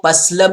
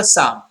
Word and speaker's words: psalm: एस ए एल एम इसको पसल भी लोग पढ़ते हैं लेकिन ये गलत रंग प्रोनंसिएशन राइट क हुआ साम पी एस ए एम साम ठीक है तो ये साइलेंट होगा एल साम साम मींस होता